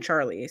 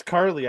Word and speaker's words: Carly: was saying Charlie so no no it's Carly I just it up well is that how to spell it it's Charlie it's essentially Charlie without the it's it's Carly it's Charlie without the H Charlie without the H